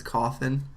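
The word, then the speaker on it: Cawthon: say his name correct I think it's coffin uh caon konon I'm gonna say coffin because that sounds more right um well it's c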